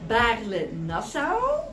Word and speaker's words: Baarle-Nassau: with ल our enclave what is a pronunciation in द the nether how they pronounce इ nether बले नसा okay इ the nether okay and Belgium बले हे बले हे ओके राइ ओके थैंक